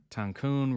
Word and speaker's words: Tancun: to Flamboyant and erratic tancun rhymes with Cancun okay I love